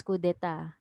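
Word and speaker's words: coup d'état: of the spartans okay so they began a coup d'etat so it's pronounced as kudeta like that so they bega they had a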